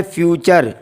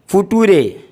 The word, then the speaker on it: future: कई लोग तलफ़्फ़ुज़ करने में गलतियाँ कर देते हैं, जैसे फ्यूचर, FUTURE, इसको पढ़ा जाता है फ्यूचर, लेकिन कुछ लोग उसको बोलते हैं फुटूरे, फुटूरे।